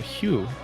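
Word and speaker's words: Hue: They had Hugh H u UE I think is how you pronounce it.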